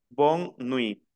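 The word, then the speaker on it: bonne nuit: buenas noches para despedirnos miren que no pronuncio la t final la regla me dice que la t final no se pronuncia entonces queda Bon nui y significa Buenas noches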